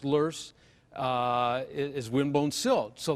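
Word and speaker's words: loess: of wind blown silt luss l-o-e-s-s it's a german word pronounced lurse uh is win-bone silt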